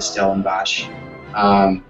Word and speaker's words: Stellenbosch: I leave for Stellenbosch, which you had mentioned. This will be my third summer teaching there. I'm very excited. I love going to Stellenbosch for the wine and also for the teaching and percussion.